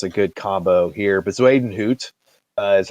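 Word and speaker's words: Bezuidenhout: decent like that's a good combo here but zweden hoot is how you say the the other name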